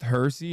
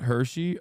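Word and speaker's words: Hirsi: It's pronounced Hersy, not Hershey.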